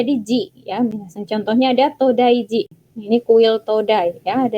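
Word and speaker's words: 東大寺: ketika sudah ada nama kuilnya diberikan jitera itu bacanya jadi Ji contohnya ada todaiji ini kuil today yang ada di Nara hai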